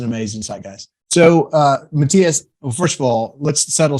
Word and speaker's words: Mathias: whenever I bring up your name Matthias or Matthias I tell him it's freaking Matthias and I'll punch him if they say anything else is that right